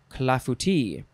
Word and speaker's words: clafouti: Next is clafouti. No, that's not how you pronounce it. You say, I think that's the, I emphasize the wrong part.